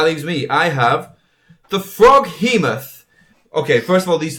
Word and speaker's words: Froghemoth: Do you think the GH in Froghemoth can actually be pronounced like an F? It could be a Froghemoth. Froghemoth? A Froghemoth. Froghemoth. Froghemoth. Froghemoth. No, it's Froghemoth.